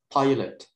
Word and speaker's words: pilot: Penulisannya sama, cuman cara bacanya aja yang beda dikit. Kita menggunakan glide I dan vokal pilot.